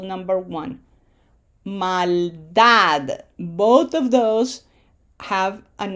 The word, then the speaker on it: maldad: So emphasis is on syllable number one. Maldad.